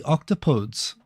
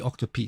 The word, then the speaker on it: octopodes: The plural of octopus is apparently octopodes. I thought it was octopi. I thought that everyone went all Latin, mispronounced Latin. It would be octopi technically, but it would be, I always said octopi.